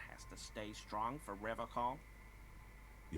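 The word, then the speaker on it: Revachol: is you say Ravi call I like to pronounce it the hard way right the old way the Vesper time way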